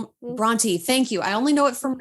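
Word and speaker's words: Brontë: Of course, we've got Emily Bronte. Is it Bronte or Bront? Bronte.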